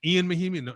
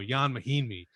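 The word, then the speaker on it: Ian Mahinmi: He's Ian Mahimi? No, Jan Mahimi.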